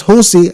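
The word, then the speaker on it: José: Jose, that's Jose, as in Jose Mourinho. For those of you who are football fans, space Mujica, spelled Mujica. Jose Mujica, Mujica.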